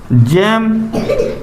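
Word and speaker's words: gem: के बाद इ आ जावे तो जी को उच्चारण का निकल है जाल निकल है ऊ मिटा लो अगला लिखो जेम जी ई एम जेम जेम means का रत्न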